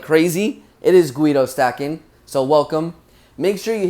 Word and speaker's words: GuidoSStackin: I figured I'd throw my name in there since lately people have been mispronouncing it like crazy. It is GuidoSStackin, so welcome.